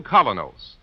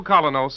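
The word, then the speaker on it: Kolynos: is start cleaning your teeth with the new Colinos, a high polishing toothpaste.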